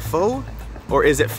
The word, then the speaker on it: pho: Classic thing to get from a pho place. You don't get pho. It's not pho. It's pho. That's how you properly say it.